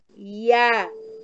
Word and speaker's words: Yah: Além das escrituras sagradas, há uma prova arqueológica de que as duas letras Yud e Re sejam pronunciadas como Yah.